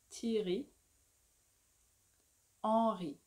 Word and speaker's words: Thierry Henry: Thierry. Henri. And we don't say Henry or Henri. It's Henri.